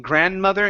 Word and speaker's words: grandmother: Okay, last suggestion here is just with that D in grandmother and grandfather. Don't pronounce the D. Doesn't exist.